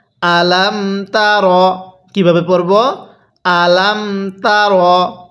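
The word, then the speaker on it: ألم تر: তার কিভাবে পড়বো আলামতার অনেকেই আমরা এখানে হামজা এর মধ্যে টান দিয়ে থাকি যদি হামজা এর মধ্যে টান দেই তাহলে কিন্তু পড়াটা সহি শুদ্ধ হবে না তাহলে কিভাবে পড়তে হবে আলামতা এরপরে কাফিয়া জবর কাই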